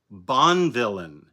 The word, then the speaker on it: Bonvillain: out to the colorist Tamara bonvillain I know that's how you pronounce that because one of our financial advisers is named last name Bond villain and I told her